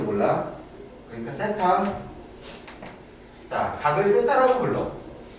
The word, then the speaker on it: θ: 돼 이걸 세타라고 읽어 th ETA 발음인데 내가 발음이 안 좋잖아 나 정확히 읽을 줄 몰라 그러니까 θ 라고 불러 자 어떤 각 세타가 일반각으로 표현했을